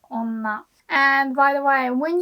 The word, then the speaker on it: 女: So this kanji is pronounced like onna for kunyomi, the Japanese reading.